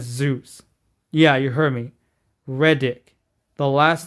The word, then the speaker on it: Reddick: Reddick.